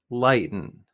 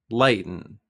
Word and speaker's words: lighten: relax there's no stress the pronunciation for lighten doesn't include the letter t one more time lighten lighten we often say lighten